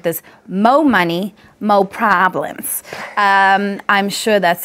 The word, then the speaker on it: Mo Money Mo Problems: you don't mind because more money mo problems we actually have to pronounce it like this Mo Money mo problems I'm sure that's how